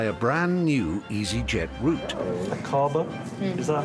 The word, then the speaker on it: Aqaba: Akaba? Is that how you would pronounce it? Yes, Akaba.